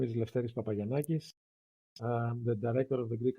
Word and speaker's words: Lefteris Papagiannakis: especially your name which I will struggle to pronounce yes thanks for having me first of all my name is leis papay yakis the director of the Greek counil for refugees